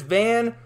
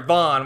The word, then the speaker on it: Van: the main plot is van or sorry vaughn why am i calling it van it's spelled van it's it's pronounced vaughn but vaughn is out